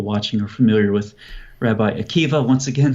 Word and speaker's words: Akiva: are familiar with Rabbi Akiva once again spelled with a BA at the end but pronounced with a V and the goal of